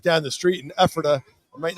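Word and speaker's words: Ephrata: Elijah is from right down the street in Epherta. I might not be pronouncing that right.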